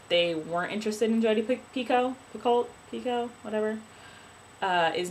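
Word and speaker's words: Picoult: Pico for a while I've always said jod pult but apparently it's Pico I don't like it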